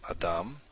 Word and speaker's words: Adam: So a word like we had before, the example word I used, Adam, it's the last syllable, Dam, that is accented.